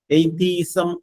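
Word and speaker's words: atheism: ഒരു word word ശ്രദ്ധിക്കാം എയ്തീസം എ E sorry A ടി എച്ച് ഇ ഐ എസ് എം എ ടി എച്ച് ഇ ഐ എസ് എം എയ്തീസം എന്നാണ് അതിന്റെ ഉച്ചാരണം എതിസം എന്ന് പറഞ്ഞാൽ നമ്മൾ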